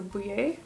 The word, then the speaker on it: Boulley: I'm expecting this to be pronounced in a French kind of way, so Boulley.